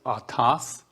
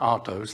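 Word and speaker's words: αὐτός: 846 and that and uh the word is atas and it's not autos like where you see a car or a truck is pronounced atas and the first strong uh concordance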